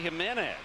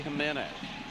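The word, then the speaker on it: Jiménez: Jose Jimenez of St. Louis on June the 25th against the Arizona Diamondbacks. Jose Jimenez. JJ. Or HH. J, of course, pronounced as an H in Espanol.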